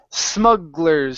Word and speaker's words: smugglers: okay the word is Smugglers Smugglers Smugglers okay so watch that S at the beginning instead of saying Zug It's s Smugglers Smugglers good job okay